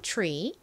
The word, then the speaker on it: tree: 볼게요 tre tre 좋습니다 치 소리가 이렇게 살짝 감이 된 소리가 나죠 Tree 같이 써 보도록 하겠습니다